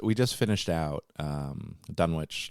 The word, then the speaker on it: Dunwich: just finished out um Dunwich Legacy or dunich Legacy I'm trying to be very good at pronouncing it dunich all right well that's